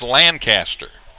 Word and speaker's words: Lancaster: One of the towns that gives me trouble because it's pronounced different in a lot of different places is Lancaster.